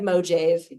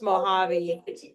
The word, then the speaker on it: Mojave: It looks like Mojave, but it's pronounced Mojave.